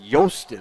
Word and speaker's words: Jostin: He said Jostin, like yo, Is that right?